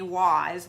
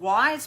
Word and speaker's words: Weise: Actually, they have the same last name as me, Wise, but it is spelled differently. They spell it W-E-I-S-E because it's the German spelling.